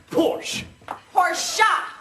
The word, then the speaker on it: Porsche: is the correct pronunciation of the car it's pronounced Porsche pora Porsche pora now that I think about it